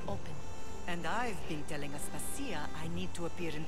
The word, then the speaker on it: Aspasia: Aspasia's right. Aspasia. I don't know why I said her name wrong.